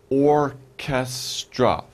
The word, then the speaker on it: orchestra: we're looking for orchestra orchestra three syllables or ca stra orchestra and orchestra the philharmonic